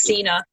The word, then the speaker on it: Sinne: for the book, and it's spelled Sinne, which is just stupid because it looks like a Sini.